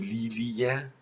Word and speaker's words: Lilie: all of them, but many of them are pronounced simply separated. And those words are, for example, die Familie, die Lilie, die Studie, die Bestie. So you don't make a long E, you pronounce it separated.